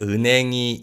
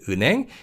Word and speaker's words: 은행: And you can hear that the 히읗 in the second syllable in 은행 is pretty much silent.